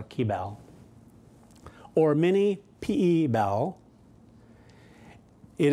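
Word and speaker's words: Kibal: And then, of course, there's the very handy, I'm pretty sure they pronounce it Keybal. It's K-I-B-A-L, or Keybal.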